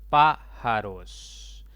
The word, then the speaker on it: pájaros: Esta palabra tiene 3 sílabas. La mayor intensidad está en esa sílaba marcada con color verde. Por lo tanto, esa es la sílaba tónica y las demás serán átonas. Lleva tilde porque es una palabra de tipo esdrújula.